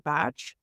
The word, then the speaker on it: Bach: in the 1950s Dr Bach and if you're in the UK the way that traditionally his name is pronounced is Dr batch uh and he probably